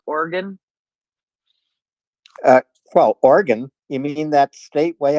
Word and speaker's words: Oregon: can you finally learn how to how to pronounce Oregon uh well Oregon you mean that state Way Out West yeah but you keep calling it Ordon well I have to cross the Mississippi to